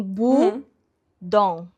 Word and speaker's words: Bodom: E daí tava assim bu dom. Tão perfeito. É isso. Bund bund não é budum. É budom. Calma.